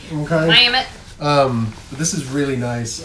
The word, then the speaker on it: Mammut: This is a soft shell, soft tech jacket from Mammut. I believe that's how you pronounce that. I think Americans say Mammut. It's a Swiss brand. Okay. Mammut.